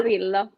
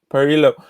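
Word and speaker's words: Parrillo: Lucio Par- Parillo. Parillo.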